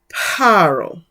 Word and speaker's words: Pharaoh: So even in Greek, originally, the PH would have been written but not pronounced with the sound of an F. So though you may see Pharaoh written in this way, it would have been Paro.